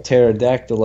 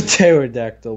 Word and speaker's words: pterodactyl: when people call a pterodactyl up to pterodactyl because they're pronounced they're peas what's even more stupid is why is there a pea and why is it silent and if it's silent